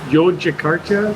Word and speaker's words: Yogyakarta: I've always pronounced it wrong. Yogyakarta?